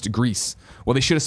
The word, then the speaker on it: Gris: is main sorry Greece I've heard the people who work on that game call it Gris and then bla no Grizz then Blanc he says gris-gris is actually pronounced Greece not Grizz and the South's just